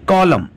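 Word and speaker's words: column: इसमें एन के पहले एम है इसलिए एन साइलेंट है एटम एटम्स पतझड़ कॉलम कॉलम में भी देखिए इनके पहले एम है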